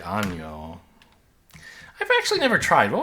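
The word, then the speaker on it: año: This is pronounced ano and with well an o is pronounced ano and means like anus.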